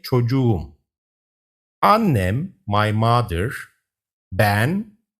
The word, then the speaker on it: çocuğum: When a word ends with K and receives a suffix starting with a vowel, the K shifts to a soft G to make it easier to pronounce.